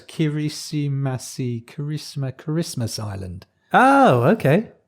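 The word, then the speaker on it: Kiritimati: in the world in the world which is kirichimati island or atoll kiwichi mati how do you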